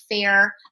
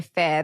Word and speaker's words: Faire: And that for us, Faire has been insane.